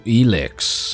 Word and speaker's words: Elex: and welcome back to elix as far as I'm aware that's how you say it still yes anyway we are